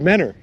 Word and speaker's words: Mentor: what even is mentor it's just dropped the t it's just mennor khalida i was calling